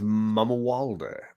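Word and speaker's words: Mamuwalde: Because his name is Prince Malamule or whatever, however we pronounce it. I think it's Mamawalde.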